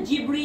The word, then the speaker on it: Ghibli: উনি নামকরণ করেছিলেন এটার ঘিবলি এবং উনি নিজে যেহেতু একজন জাপানিস ছিলেন উনি নিজে যখন উচ্চারণ করতেন নিজে কিন্তু জিব্র বা এরকম টাইপের করে উচ্চারণটা করতেন তো বলব বলার ইট